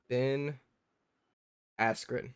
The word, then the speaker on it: Ben Askren: No, not how Bert Kreischer pronounces Ben Affleck. Ben Affleck. It's Ben Askren.